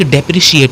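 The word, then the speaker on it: depreciate: आप ये डेप्रिकेट है, और एक डेप्रिशिएट होता है। डेप्रिकेट और डेप्रिशिएट में प्रोनाउंसिएशन का ही अंतर है, और ई और आई का अंतर है।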